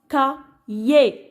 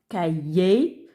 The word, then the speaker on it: cahier: Alors le H ici, donc il ne se prononce pas, il est muet.